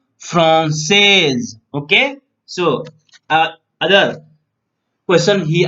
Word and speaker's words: française: For here, last word is so she will pronounce française.